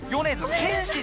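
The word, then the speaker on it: 米津玄師: ですが、読み方がヨネズケンシさんが正解なので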